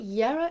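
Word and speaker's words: Jera: Even though it begins with a J, it's that like Jungfrau. If you know the mountain, the Jungfrau, it's the Y sound. It's what our ancestors, that's how they would have pronounced their J's.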